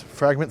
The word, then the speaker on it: Frgmnt: That's Fragment spelled with no vowels, so Frgmnt.